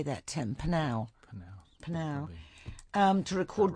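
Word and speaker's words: Pnau: Panau.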